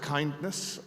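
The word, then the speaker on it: KINDNS: So, I pronounce it kindness. Uh, K N DNS is a little tortured.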